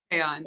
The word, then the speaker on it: Kayonne: Kayonne, sorry, am I pronouncing your name correctly? Yeah, Kayonne? you are, Kayonne.